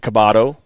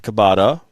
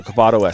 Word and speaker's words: Coboto: said it wrong but kabado not cabata cabato so cabato SC so I apologize